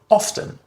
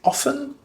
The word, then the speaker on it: often: while it's true that native speakers generally tend to say this word without the T sound inside it is perfectly acceptable to say often so you don't have to worry whether you say often or often both of